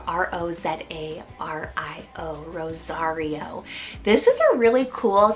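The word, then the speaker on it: Rozario: a king third to last name we have Rosario spelled r-o-z-a-r-i-o Rosario this is a really cool kind of name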